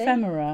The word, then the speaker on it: Ephemera: How do you pronounce it, Lizzy? Ephemera.